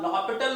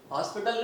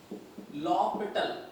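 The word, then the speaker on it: L'Hôpital: व्हाई आई am telling you बच्चे like this, because जो आप लॉपिटल रूल, हॉस्पिटल नहीं लॉपिटल इट is pronounce, okay, L'Hopital बोला जाता है, pronounced as L'Hopital rule.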